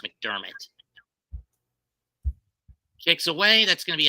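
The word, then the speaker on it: McDermott: wall shander mount pronounced mcdermit his name is pronounced mcdermit is the Bills coach last name is pronounced mcdermit kicks away that's gonna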